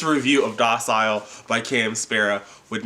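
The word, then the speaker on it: Szpara: of docile by cam spera would not i think i pronouncing that right cam tweeted a long time ago that the Z was silent and spirit or Sparra I probably will use them interchangeably in this review back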